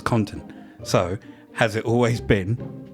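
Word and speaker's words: OxyContin: it to be called oxycotton because of the way Americans pronounce it they don't pronounce the N I've never heard an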